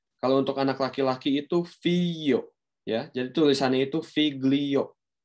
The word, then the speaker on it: figli: Oke, setelah itu ada figli. Ya, kita jangan lupa teman-teman ya, pelafalannya itu figli, oke, bukan figli.